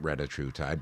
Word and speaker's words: retatrutide: And by the way, I like the way you pronounce it correctly, and I call it retatrutide, but the correct way to pronounce it is Retatrutide.